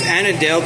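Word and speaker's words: Annadale: So, here's Annadel.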